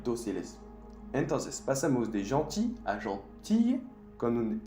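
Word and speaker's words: gentille: Gentil es como pantalla en español. Gentil, pantalla. Tenemos que poner dos L's. Cuando escuchas el sonido I en francés, hay dos L's. Entonces, pasamos de gentil a gentil con un L y un E.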